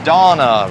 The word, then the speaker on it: Donna: so I've been practicing its Donna rhymes with banana American danna-banana in a